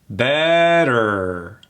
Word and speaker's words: better: That T turns into a D. Better. And here's something that always flubs up a lot of my clients. What a lot of my clients do is they pronounce that last E, better. But in this case, that R kills that E and it goes right into better.